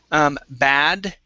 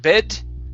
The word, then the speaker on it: bad: Next is bad, the bad news. Instead of bed, okay, this is an ah sound, the bad news.